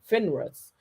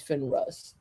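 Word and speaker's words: Finarus: fine I guess it's finra's is what it is not finra I think it's Finn rust uh let me double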